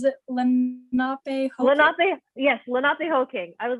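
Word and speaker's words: Lenapehoking: Lenape, yes, Lenape Hoking.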